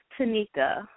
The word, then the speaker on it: Tanyka: It's Tanyka. Tanyka, I'm sorry, it's spelled yes.